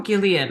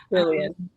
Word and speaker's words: Jillian: program that um um is it Jillian or Gileian? I'm so sorry if I'm pronouncing your name wrong. Jillian. It's Jillian. Yes.